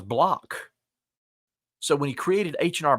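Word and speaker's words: Bloch: Henry blotch B was tired of people mispronouncing his name because they kept saying Henry blotch his name was block so when he created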